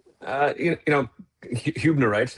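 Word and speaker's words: hübnerite: Uh, you know, Hunerite is how it's pronounced, Kyle. That one tripped me up a few times as well. So, so, uh, I can see how that happened. But, it's Hubnerite.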